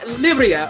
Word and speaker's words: Libryia: That's why I was like, "Yo soy Libryia, okay?